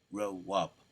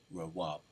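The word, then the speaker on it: רעב: this in the Hebrew how you pronounce it R Raab Raab Raab hunger famine famished Raab I'm pronouncing that correctly as close as I can to to the actual pronunciation so we looked at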